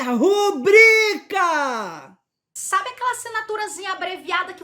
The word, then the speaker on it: rubrica: Pois é, aquela assinatura não se chama rúbrica, é rubrica! Não tem acento, tá? Não tem acento com a sílaba tônica no bri.